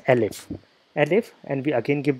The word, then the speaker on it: elif: So this is pronounced as else if, but we write as elif.